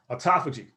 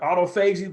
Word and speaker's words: autophagy: And one of the ways that it works is this process called autophagy. Okay, it looks like autophagy, but it's actually, I believe, pronounced autophagy. So this is a process.